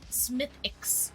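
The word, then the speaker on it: Smithwick's: Someone said I think it's Smith Wix, but someone said it's pronounced Smithix.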